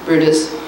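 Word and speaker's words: Bryde's: was when they first expanded the program 50 brutus whales that's pronounced brutus and 10 sperm whales all of this in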